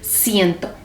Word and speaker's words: ciento: And it's pronounced as ciento.